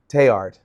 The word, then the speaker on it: Teilhard: And for those who don't know, Teilhard, Desjardins, I joked earlier that The L. the L, don't pronounce the L in French. Teilhard.